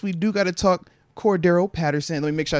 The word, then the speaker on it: Cordarrelle: being the case we do got to talk Cordo Patterson let me make sure I say Cordo because I did have somebody like as I was pronouncing his name 30 times one of the times I said Cordell like Cordell no no no I was like